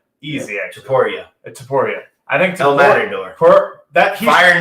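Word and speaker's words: Topuria: How do I pronounce Illya Taporia. Taporia. Easy, actually. Taporia.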